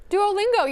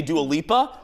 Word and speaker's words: Duolingo: what did I say Duolingo you said it right it's just funny oh God you scared me you laughed I said was I supposed to say do a Lipa no Duolingo Duolingo are they related no